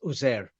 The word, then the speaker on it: Uzair: Now the thing is, there's different pronunciations, but the standard pronunciation is Uzair. Yes. So if you go there, the local people pronounce it like this.